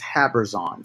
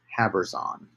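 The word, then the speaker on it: Habbrizon: give a name to now that city is habers on h-a-b-b -r-i-z-o-n havers on I should just spell it for you on the chat and um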